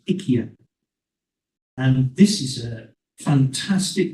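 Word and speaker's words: IKEA: many stores of Ika some people call it Ika but the correct pronunciation in Swedish is ikia and this is a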